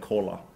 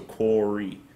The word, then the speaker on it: Kåre: stuck with corey and phonetically corey also makes sense because my the second letter in my name it's a norwegian letter o and then the last letter e in english is e so quarry it kind of makes